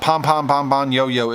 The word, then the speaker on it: Pombonyo: Yeah, Pombonyo is the way I learned how to say his name when we met in Vegas.